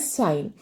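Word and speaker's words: sinh: Minus x बाई 2, so pronounced as साइन।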